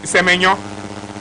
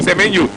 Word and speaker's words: Semenyo: It's Semenyo. Yes. So we will call it Semenyo. Semenyo. It's Semenyo. That's the right pronunciation.